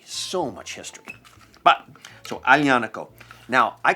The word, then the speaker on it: Aglianico: But the Aglianico grape has been in this area for a very long time. It's actually known, Aglianico, as one of the grapes with the longest